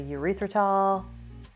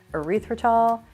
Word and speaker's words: erythritol: Lecanto that is a urethritol erythritol I always say it wrong erythritol not urethritol erythritol and monk fruit blend